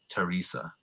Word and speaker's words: Teresa: Or another one is the name Teresa is often spelled with a TH, Teresa.